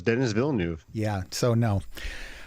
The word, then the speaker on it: Denis Villeneuve: As far as I know, it's Denis Villeneuve. Yeah, so no. It's Denis Villeneuve.